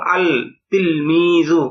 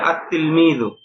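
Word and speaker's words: التلميذ: অনুযায়ী হওয়া উচিত ছিল আল তিলমিজু এরকম না বরং এটা সঠিক উচ্চারণ হবে উচ্চারণে এরকম হবে আতলমিজু কিন্তু লেখায় আসবে এরকম আলতিমি আতলমিজু মানে এখানে লামটা উচ্চারণ হবে না ব্যাস এই বিষয়টুকু আপনারা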